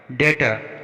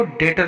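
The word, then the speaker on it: debtor: डेटर, यहाँ पर भी टी से पहले बी आया है तो यहाँ पर हम बी का उच्चारण नहीं करेंगे, इसको डेटर पढ़ेंगे।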